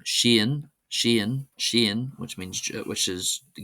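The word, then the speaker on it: Seán: However most people in the angophone world of course will be familiar with this name being pronounced sha sha. Uh but in my small area of Gildam, we pronounce it as Shen Shen.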